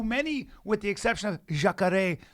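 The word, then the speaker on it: Jacaré: with the exception of jakare consider to be the uh yeah that's how you say it which is crocodile but considered to be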